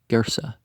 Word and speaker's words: Gersa: a pile of ruins still called by the natives gersa very nearly pronounced ergasa the name in luke